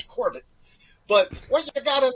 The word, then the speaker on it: Corbett: You pronounce my name like I'm French when in effect I'm Irish and German. So it's Corbett.